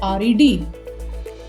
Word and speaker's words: read: like pronunciating read, okay, while we are talking in present tense, we say read is read, and in past it is read as read. Read is read, red.